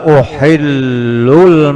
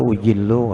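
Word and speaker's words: أُحِلُّ: Fa inni la uhillul masjida li haidin wala junubin. Bahwasanya aku halalkan. Uhillu bacanya. Uhillu bacanya. Kalau ikam di salah kena. Ikam to uhillu kada ujillu kada.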